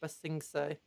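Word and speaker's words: Ba Sing Se: It's pronounced Basingse.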